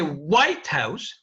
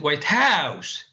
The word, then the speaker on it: White House: it can be but when we say White House we stress the first part and this is an actual compound and it means the house of the UN the president of the United States of America in a non-compounded phrase the second word is stress as I said white house so if I ask